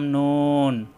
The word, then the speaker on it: ن: নাম নুন, তার নাম নুন। আসসালামু আলাইকুম আরহামাতুল্লাহ। আজকের ক্লাস আমরা শিখব নুন অক্ষর। নুন নুন অক্ষর জিহ্বা আগা উপরে তালুতে লাগিয়ে উচ্চারণ করতে হয়।